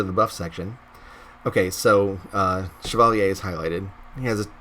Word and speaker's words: Chevalier: champion I'm called the Chevalier the Chevalier I can pronounce that because my dad is French Canadian and I spent